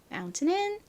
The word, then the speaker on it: mountain: 다시 한번 정리하자면 tain은 강세가 오지 않을 때는 튼으로 발음이 나는데 한국식으로는 주로 틴으로 표기를 한다.